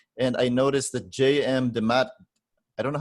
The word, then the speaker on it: DeMatteis: Demat, I don't know how to say his name. Is Jam it Demand. J.M. DeMatteis? Okay. J.M. DeMatteis was really trying to instill themes of family